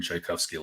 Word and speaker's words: Tchaikovsky: the life of Adrien shikovski look like and am I pronouncing that right yes yes so yeah pronounced like like the composer um so on average